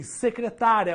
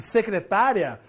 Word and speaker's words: secretária: isso também por exemplo se eu falar assim secretária ou secretaria tem uma mudança aí na tonicidade das palavras ou seja na sílaba mais forte beleza sílaba tônica então secretaria e secretária são palavras diferentes que só é diferida ou seja só vai ter uma diferença entre elas devido aqui devido a acentuação secretaria não tem acento